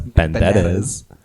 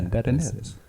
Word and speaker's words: Banderas: Banderas. Yeah, because like the R's are kind of like a d sound. Yeah, Banderas. It's like a B, a V. Banderas.